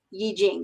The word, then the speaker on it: Yi Jing: astrology, of the Chinese Yi Jing, or you sometimes hear it pronounced I Ching, because that's how it looks like it's written. I believe the correct pronunciation, if we care, is Yi Jing.